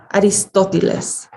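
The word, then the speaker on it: Aristóteles: grandfather's name and then i pronounced my grandfather's name with this really formal mexican accent aristotelis and my my real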